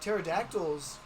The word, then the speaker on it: pterodactyl: Because pterodactyls, they had very You're tiny saying it bodies wrong. Yeah. It's and huge wings. You're saying it wrong, Thomas. It's pterodactyl.